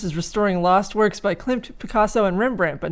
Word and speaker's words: Klimt: Is that how you pronounce his name? Klimt, yeah. Gustav Klimt.